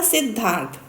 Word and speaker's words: सिद्धार्थ: तो प्रोनाउंसिएशन में जब भी दो वर्ड जॉइंट होते हैं तो जो पहले आता है वो आधा होता है।